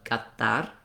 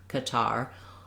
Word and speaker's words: Qatar: So I might go back to Qatar. I also might say it two ways. My close approximation is as far as I can get of Arabic versus the English so people can understand.